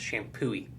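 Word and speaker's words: Champoeg: o e g but it's pronounced shampoo that's funny there's there's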